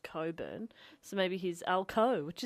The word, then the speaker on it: Cockburn: Western Australia it's called it's spelt Cockburn but it's pronounced Coburn so maybe he's Elko